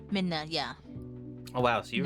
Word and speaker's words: Midna: Midna? Midna, yeah.